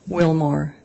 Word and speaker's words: Willmore: honor would you please state your name and spell it for the record c-a-m-m-y Willmar w-i-l-l-m-o-r-e where are you currently employed I am